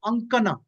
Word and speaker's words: Ankana: The word, the original Sanskrit was is Ankana. Ankana means to draw.